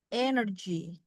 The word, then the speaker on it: energy: Kalau terdiri dari 3 syllable, ya 3 syllabic, misalnya energy, ya energy. Ya, biasanya yang strong, stresnya yang strong, itu yang awal, yang ini.